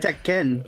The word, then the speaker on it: Tekken: got roasted for saying pronouncing Tekken the way she diden that's actually how to pronounce it found teeken really I actually found